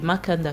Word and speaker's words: Mekanda: Paul avec un E, Yvonne double N et Makanda, comme ça se prononce.